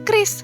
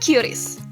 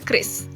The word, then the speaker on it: QRIS: atau biasa disingkat Kris itu dibacanya Kris bukan curis? Dilansir dari website resmi Bank Indonesia, Bank Indonesia tegaskan cara baca QRIS yang benar adalah Chris.